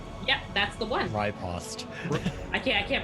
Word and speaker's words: riposte: Riposte, both are acceptable. I mean, it's all acceptable, but... No, riposte I will not accept.